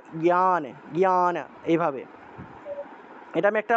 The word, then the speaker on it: জ্ঞান: জিয়ান হবে এভাবে বলে জ্ঞান শব্দটাকে অনেকে জিয়ান বলে ফেলে জিয়ান উচ্চারণ করে এটা জিয়ান হবে না এটা জ্ঞান জ্ঞান এভাবে এটা আমি